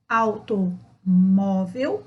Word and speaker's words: automóvel: Automóvel, o mó é mais forte.